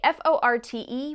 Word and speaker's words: forte: And by the way, F-O-R-T-E, when used to describe a piece of music, comes from the Italian word for loud, and you should definitely pronounce that forte.